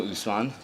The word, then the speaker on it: Usman: Hi, I'm Usman, or Usman, as you so correctly pronounced.